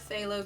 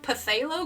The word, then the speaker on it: phthalo: Up until I started getting the color community, I had no idea how to pronounce that. In fact, I think way back when I was like first in college, like 18 or whatever, I think I actually pronounced the P.